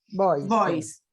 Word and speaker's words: Beuys: Beuys. Beuys. Corregime, Karin. ¿Cómo se escribe? ¿Cómo Está, se no te. B larga E-U-Y-S. Boys.